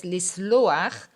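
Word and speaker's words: לסלוח: little bit is that we have the pronunciation akh at the end. It is not lisloakh, it is lisloakh. This is a pronunciation that is very typical for roots, for pa'al roots that end on khet.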